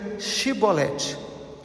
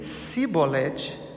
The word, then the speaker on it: Shibolete: Se respondesse que não, os homens de Gileade lhe diziam: então diga Shibolete. Se ele dizia Sibolete, não podendo pronunciar corretamente a palavra, e eles o agarravam, matavam nos vales do Jordão.